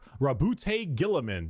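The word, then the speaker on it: Roboute Guilliman: Primarch, Rabute Gilliman. That's how it's said.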